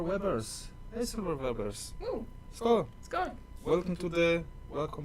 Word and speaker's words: Skål: It's actually not Skål, it's Skål. Skål. I'll write it in the It's like comments. A with an O on top. It's pronounced Å. Oa. Like Omi. Like Omi, who is underneath the table right now. Oh, it's Skål, not Skål. Yeah. The A is more correct visually, but Yeah. pronunciation is with O.